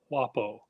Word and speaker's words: guapo: italia italo romance varieties guapo is pronounced roughly as wapo okay that that would